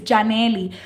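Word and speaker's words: Yanely: My parents are Dominican American, and so the way that my name is pronounced at home with my family is Janely. But in English, it's a lot of people see the way it's spelled. It's spelled Y-A-N-E-L-Y. So when you see a Y in English, it makes the Y sound.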